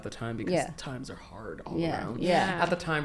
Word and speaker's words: real: They were changing the um the currency the currency from kusu to ha and and it's spelled like real r but so that's the currency that we still use.